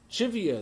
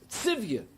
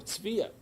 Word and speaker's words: Tzivia: Chivia, they said. Actually, it was Tzivia. Tzivia, which is a Hebrew name, or Tzvia.